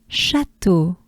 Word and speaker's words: Château: Château, château. You probably, some of you know it means castle. Château. Again, a soft sh. And a, chat, just like in the previous one we had, which was Charol. So it's similar. Chat, chat, chat. To, to. Just, simply to. Right?